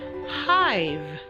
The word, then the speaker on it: hive: The next word with a long I and silent E is the word hive.